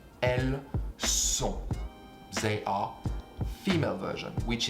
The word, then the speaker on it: elles sont: They are, female version, which is basically elle and il, which is she and he, with an S at the end that you don't pronounce in front of an S, which is a S from sont, and you don't pronounce the T neither.